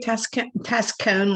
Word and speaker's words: Tescone: Tescone, like ice cream cone thing.